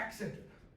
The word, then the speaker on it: accented: accented. So like how I just said that word, accented. Stress was on the first, and then scented, okay?